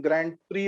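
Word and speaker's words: Grand Prix: Famous formula 1 racing असं त्याला formula 1 ग्रँड प्री असं म्हणतात, पण परत स्पेलिंग वेगळं येतं त्याचं. तर मोस्ट ऑफ द फ्रेंच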